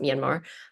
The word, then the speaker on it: Myanmar: Um, it's it's not it's pronounced Myanmar.